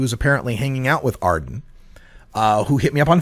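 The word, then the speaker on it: Aarden: How else would you pronounce Arden? It's A-A-R-D-E-N, Arden.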